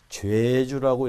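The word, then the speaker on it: 좨주: 관직이기 때문에 읽을 때 이렇게 좌에 일을 써서 죄주라고 이렇게 읽는 거죠. 죄주 이렇게 했습니다. 그래서 한자 자체는 이제 제사할 때 제자입니다. 그렇지만 관직이 되면 죄주라고 읽죠.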